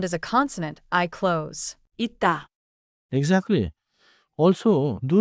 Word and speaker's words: 있다: At the end of a syllable, close the sound. For 있다, the target is 있다, not 있으다.